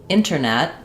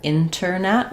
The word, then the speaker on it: internet: You're either going to hear a true T there. Internet with that T released. or we might drop that T entirely and change it to just the N sound that sounds like internet.